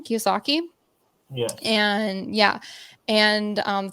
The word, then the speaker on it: Kiyosaki: key how do you say his last name Kiyosaki yeah and yeah and um Think and Grow